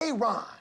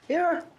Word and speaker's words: Aaron: Aon. Aaron.